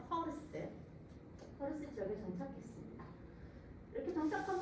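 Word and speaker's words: پارس: 이들은 이란 남부의 파르스, 제가 그냥 영어 발음으로 써서 파르스인데요. 사실 페르시아 실제 페르시아 발음은 퍼예요. 퍼르스.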